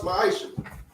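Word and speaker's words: מעשר: It means 10th in Hebrew, and it's pronounced ma'isha.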